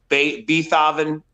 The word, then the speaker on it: Beethoven: 90s, but they all had like those like Beethoven neck pieces with these like, Beethoven.